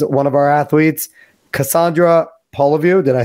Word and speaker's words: Poliviou: She is both of our friends, one of our athletes, Cassandra Poliviou.